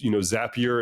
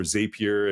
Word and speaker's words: Zapier: aspects of my life that I also use, Zapier in my case, or Zapier. And I don't want to debate how you pronounce that because I probably said it wrong. I say Zapier.